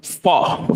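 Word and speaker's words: faux: Fall. Fall is like fake. Like you have fall leather but it's kind of like a French sounding the X is silent like fall leather like like fakea oh fake like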